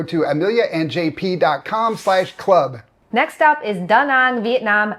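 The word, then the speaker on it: Da Nang: But I can assure you it's pronounced daang kind of mono monotoned with equal emphasis on both words.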